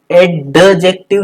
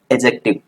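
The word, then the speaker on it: adjective: ठीक है, कहीं भी, जैसे कि एडजेक्टिव, एडजेक्टिव नहीं, एजेक्टिव।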